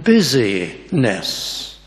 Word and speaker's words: business: to translate the Greek if only we pronounce it in the right way it has nothing to do or not much to do with business in the sense of Commerce it's not not slothful in your business life but if we pronounce it differently you get the sense the word not slothful in busy nests now that's much better